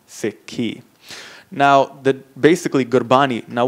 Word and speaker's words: Sikhi: about the relig religion we add the I on the end s i k hi I and it becomes siky now the basically gbani